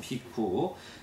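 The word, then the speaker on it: bhikkhu: 원래 발음이 그쪽 비쿠.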